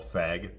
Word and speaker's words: Feig: So anyway, The Housemaid here, it came out last year, okay, directed by Paul Feig. Yes, that's how you pronounce his name.